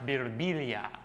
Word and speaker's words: Birbiglia: And sometimes people come up to me and they'll be like, you know, in Italy it's pronounced Birbiglia.